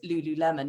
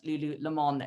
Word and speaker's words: lululemon: of advanced innovation that it is lululemon not lululemon as i have apparently been pronouncing it incorrectly for all this time so um we have